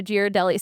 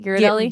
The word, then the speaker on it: Ghirardelli: But Dad tries to salvage the day, and so he takes Ivy and Julie to Ghirardelli Square. Is that how you say it? Ghirardelli?